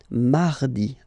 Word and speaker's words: mardi: you don't pronounce it that strongly, this R. Huh? Mardi, mardi, okay? You don't need to go too deep like mardi. No, no, no. You don't move your tongue so it doesn't sound like mardi. No, it's really soft. Mardi, mardi, mardi.